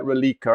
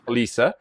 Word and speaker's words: Roliça: It looks like Rolica, I think it's pronounced wrong, yeah. Roliça, on the 17th of August.